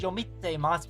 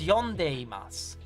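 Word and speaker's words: 読んでいます: I always pronounce it as yomitemas, but that's not right. It's yondeimasu.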